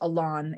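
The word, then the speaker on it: Aloné: um of alone and Lon spells her name Alone um which is why the film is called alone uh even though it's pronounced Elon if you're referring to her um and I sorry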